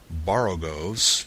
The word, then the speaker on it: borogoves: Again, the first O in borogoves is pronounced like the O in borrow. I have heard people try to give it the sound of the O in worry. Such is human perversity.